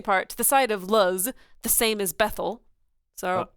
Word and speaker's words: Luz: At the side of It's Luz. pronounced Luth. No, I'm kidding. It is Luz.